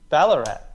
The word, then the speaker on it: Ballarat: Because I used to live in Ballarat, and often there would be like. That rhymes with Ararat.